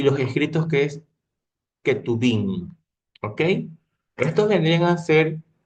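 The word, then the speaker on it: Ketuvim: La ley, que significa la Torá, los cinco libros de Moisés, los profetas que se lo pronuncia como neví y los escritos que es ketubín.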